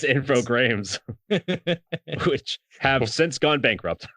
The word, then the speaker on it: Infogrames: You gotta say it right, Mike. It's Infogrames, which have since gone bankrupt.